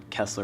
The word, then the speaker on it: Kessler: If I'm being real, Kessler rhymes with wrestler, so I started wrestling for that simple reason.